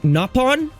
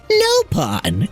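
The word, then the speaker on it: Nopon: almost do that also not a fan of the way they pronounce the word napon in Xenolade X and it's his fault he pronounces it noopon and I don't like that all right it's napon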